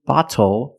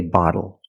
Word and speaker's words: bottle: but phonetically it is when you see tle e or ttle phonetically the t is between vowels and for this reason the T changes to a fast D in American pronunciation that's why we do not say little we say little and we do not say bottle we say bottle so this is a